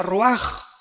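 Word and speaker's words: רוח: Aquí se usa otra palabra hebrea que es se escribe roach con R de Raúl A. Se pronuncia roaj. Por ejemplo, cuando hablamos del Espíritu Santo, el Espíritu Santo es roaj, el Kadosh, el Espíritu Santo.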